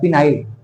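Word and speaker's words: phenyl: फिनाइल। क्या नाम हो जाता है? बोलो, फिनाइल। अब फिनाइल की स्पेलिंग बोलो कैसे होती है? पी से शुरुआत होती है फिनाइल की, और इसका नाम क्या है?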